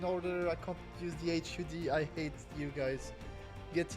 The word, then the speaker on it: HUD: Hut, bro. Hut. Okay. No one no one pronounces Hu. Really? HUD.